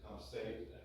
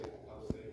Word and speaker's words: Tecumseh: Some Americans say Tecumseh, some Canadians say Tecumseh, we say Tecumseh.